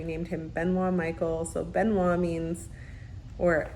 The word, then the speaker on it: Benoit: So Benoit means, or I guess to say it correctly in French, is Benoit.